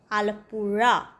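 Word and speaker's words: Alappuzha: আমরা যাচ্ছি আলাপুরা বিচ নামের উচ্চারণটা প্রথমে ক্লিয়ার করে দিই এর উচ্চারণ আমরা করবো আলাপূজা আলাপূজা কিন্তু আলাপূজা বললে সাউথ ইন্ডিয়ার কেউই বুঝবেন না কারণ এর উচ্চারণ এনারা করেন আলাপুড়া আলুপোড়া নয় কিন্তু আলাপা এই হচ্ছে মালায়ালাম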